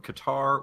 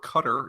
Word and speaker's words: Qatar: US but also from Qatar or Qatar if you're one of those people Jordan and Turkey and if you're one of those people some people pronounce the cutter which I don't get but no I mean